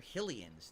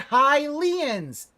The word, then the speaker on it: Hylian: it doesn't sound right because you're pronouncing it wrong it's highly the race are Hylian the the nationality is